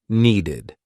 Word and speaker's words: needed: what I'm talking about if a verb ends in t or d The Ed ending will be pronounced ID want ends in a t wanted need ends in a d needed pasted painted so if the verb ends in a t or a d you're going to use that ID ending wanted I never accepted